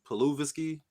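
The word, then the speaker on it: Pokuševski: he'd be holding it down what's the name paluisky that's how you say his name Focus yeah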